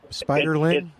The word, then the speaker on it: spiderling: Spider ling. Yeah, the word spider and then they just add ling on the end of it.